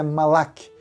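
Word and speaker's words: מלאך: A palavra hebraica para anjo é a palavra malak. Me perdoe se a pronúncia não estiver muito correta, mas é malak, significa anjo ou mensageiro.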